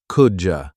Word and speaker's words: could you: The pronunciation, could you, often sounds like could-ya.